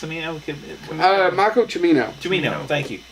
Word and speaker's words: Cimino: Cimino? Michael Cimino. Cimino, thank you. Right? I think so. It's not Cimino, it's Cimino.